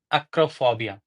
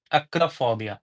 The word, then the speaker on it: acrophobia: But that kind of fear, the fear of heights, is called acrophobia. Acrophobia. We don't say acrophobia, we say acrophobia. Acrophobia. Acrophobia. So acrophobia is spelled as ACROPHOBIA.